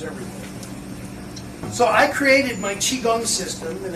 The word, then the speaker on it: chi kung: way it is every so I created my chiong system and it's spelled c h i k u n g